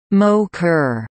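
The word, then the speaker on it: MOCR: Mission Operations control room MOC are pronounced mo ker and now is called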